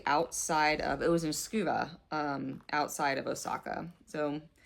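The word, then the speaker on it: Tsukuba: I went to a store again in Scuba. Um, that's how the the locals pronounced it.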